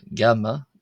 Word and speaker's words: ⲅⲁⲙⲙⲁ: Uh, gamma. Gamma is like the G in the English word git. However, more accurately, it's more like a G sound as in Greek or uh, modern Greek or Arabic.